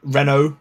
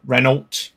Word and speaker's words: Renault: M daff DF Mercedes Volvo Scana Renault uh Renault renold depending how you say it depending where you're